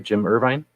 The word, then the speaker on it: Irvine: It's Jim Irvine. Am I saying it right? Jim Irvine? Irvine? You're right.